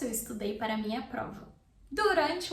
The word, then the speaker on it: durante: Durante. Durante. If you can't roll your R, rante, use the American R. Durante. Durante. Durante. But the word in Portuguese in Brazil is said durante. Durante.